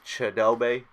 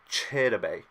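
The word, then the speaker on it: Chidobe: um now this guy a lot of people are gonna say his name wrong I feel like and they're gonna say Shelby just because it's probably the easiest but listening to his mother say it it was chitta bay to the African yeah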